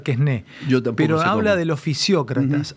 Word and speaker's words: Quesnay: a los fisiócratas y a Quesnay, no sé, se debe pronunciar Quesné, pero habla de los fisiócratas.